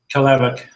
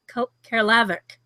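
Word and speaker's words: Caerlaverock: How do you pronounce it? Caleverock. Caleverock.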